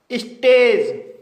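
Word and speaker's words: stage: इसे सेपरेट पढ़ा जाएगा स्टेज यह एक सिंगल सिलेबल वर्ड है क्योंकि इसमें एक वाउल साउंड आया है और इसके अंत में ए जी ई आया है इसलिए ए का उच्चारण होगा इसलिए इसे स्टेज पढ़ा जाएगा इमेज यह एक मल्टीपल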